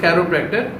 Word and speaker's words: Chiropractor: बहुत से लोग वाकिफ नहीं, इवन के लोग इसको सही प्रोनाउंस भी नहीं करते। द वर्ड इज कैरोप्रैक्टर, और जो इलाज है उसको कहते हैं कैरोप्रैक्टिक थेरेपी, ठीक है।